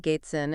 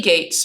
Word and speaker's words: Gates: issue uh this time the chatbot is not pronouncing my last name correctly it's putting an in in there even though my name is right here uh I'll zoom in for those uh who are looking at the screen so Gates but it's call me Gates and um not sure